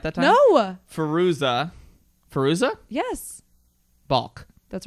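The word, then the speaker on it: Fairuza: say it right god damn it all right farooka what's that right farouza perusa bulk salt did i say it right that time no farooza peruza yes bulk that's right she was a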